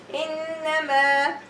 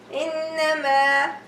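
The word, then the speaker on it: إنما: Like here we have a long vowel alif and we're stopping, so I'm going to say innama, innama, 2 haraka in the ghunna and 2 haraka for long vowel.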